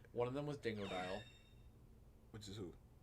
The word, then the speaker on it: Dingodile: It's spelled Dingodile, like Yeah. half dingo, half crocodile.